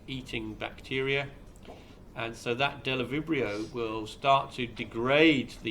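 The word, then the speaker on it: Bdellovibrio: The yellow cell is being attacked here by the little white cells, and the little white cells are called Delovibrio, with the silent B on the front, Delovibrio bacteriovorus.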